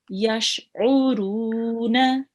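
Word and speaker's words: يشعرون: Yash'uruna. Yash'uruna. Very nice. Try to pronounce the ain as well with your throat. Oh, U. that's it. Oh, U. yes.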